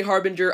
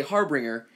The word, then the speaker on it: harbinger: of the Harbinger and yes I'm gonna say harbinger I'm gonna say it the right way because